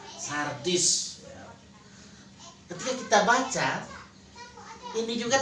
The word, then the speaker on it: Sardis: Sardis ya, bukan sadis, Sardis. Ketika kita baca, ini juga tertuju for orang, for kehidupan kita dewasa ini. Kalau Sardis itu dalam peta, yang